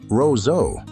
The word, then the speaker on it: Roseau: If you want to add a French touch, pronounce it Roseau.